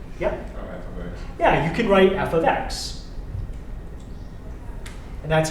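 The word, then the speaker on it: f(x): Yeah, you can write f of x. And that's how you pronounce it, f of x.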